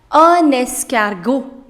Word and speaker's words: escargot: Snail, that's un escargot. Un escargot. Again, there is a liaison.